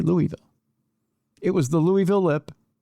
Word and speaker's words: Louisville: I'm going to pronounce this city the correct way for the rest of this story. Don't try to talk to me like you people have had a stroke. It's Louisville.